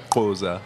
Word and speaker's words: Xhosa: Goza. And that's spelled Xhosa. Is that one? Yes. How do you say it? Xhosa.